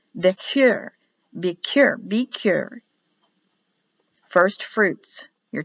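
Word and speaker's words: בכור: first first fruit bicher be cure be cure the eyes pronounce like an e b i k double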